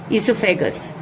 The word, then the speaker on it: oesophagus: The O is silent, EOESOPHAGUS, esophagus.